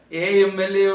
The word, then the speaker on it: MLA: Though the letter is M, that is a consonant, it is pronounced with the vowel sound A.